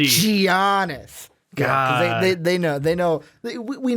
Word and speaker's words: Giannis: Giannis. That's what I'm gonna do. That hard G. Giannis.